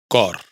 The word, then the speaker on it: cor: Pero si se pronuncia en core, corazón.